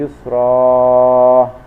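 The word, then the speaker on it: يُسْرًا: Cara membacanya panjang 1 alif 2 harokat. Contoh inna ma'al usri yusra, yang seharusnya tulisannya ini adalah inna ma'al usri yusron.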